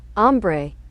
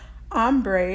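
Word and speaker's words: ombré: in French so here's here's one of those ombre ombre is actually from a French word meaning shaded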